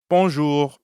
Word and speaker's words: bonjour: add the second part notice how the j in bonjour sounds a lot like the middle of the english word measure and the r at the end of ju doesn't really sound like an english r you should feel that r in your throat yeah almost like you're gargling or clearing your throat time for another speaking